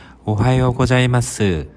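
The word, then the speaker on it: おはようございます: 보통 존댓말인 고자이마스를 붙여 사용합니다 마지막으로 다시 한번 발음해 보겠습니다 오하이오 고자이마스 두 번째로 배울 인사는 점심 인사입니다 오후 12시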